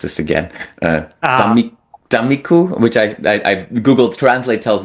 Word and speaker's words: Tammikuu: One song that stands out for straightforward reasons is the song, and I will mispronounce this again, Tammikuu, which I Google Translate tells me it means January.